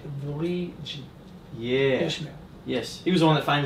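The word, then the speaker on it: Wallid: Yeah, it looks like Walid, but it's pronounced Valigi.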